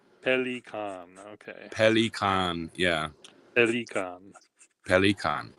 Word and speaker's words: Pelikan: named after the bird, how am I supposed to pronounce it? Pelikan. Pelikan.